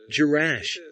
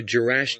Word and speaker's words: Jerash: and girz and gerash J is sometimes pronounced as yah these are issues of Arabic pronunciation there are pronunciations with